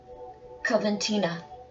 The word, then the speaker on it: Coventina: So this is pronounced Coventina, and it's purification.